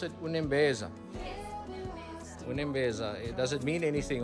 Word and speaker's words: Unembeza: So you pronounce it Unembeza.